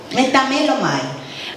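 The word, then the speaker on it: μεταμέλομαι: Y en el griego significa, se escribe como metamelomai. Metamelomai. And in Greek, it's metamelomai.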